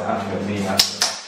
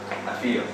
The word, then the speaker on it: Afia: I think the best thing so far is Afia. Say my name again. Say my name again. I said it wrong purposely. No, you. What's my name? Huh? Afia.